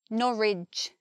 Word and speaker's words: Norwich: Here we've got which, and here we've got ridge. They're spelt the same, but one comes out with the j sound and one comes out with the ch sound. Ipswich, Norwich. Spelt the same, sound different.